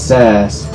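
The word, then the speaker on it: Sazh: long time it says it rhymes with jazz his name is sass but you don't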